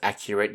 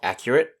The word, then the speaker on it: accurate: singular hard c sound the slightly tricky part of the word is the a t e on the end of the word it's not really pronounced properly it's more like it so accurate is spelt